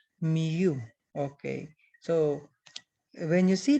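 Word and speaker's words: μ: the greek alphabet is it is pronounced as miu okay so when you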